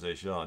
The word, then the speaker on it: Etienne: Travis A'Shaun Duval.